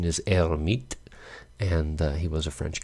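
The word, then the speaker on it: Hermite: solution and they're called the herm hermet polynomials hermet i guess most americans say the french pronunciation is er meet and he was a french guy and for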